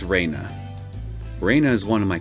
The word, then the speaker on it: Rena: school for girl I'll go I'll sim it's Raina Raina is one of my classmates she really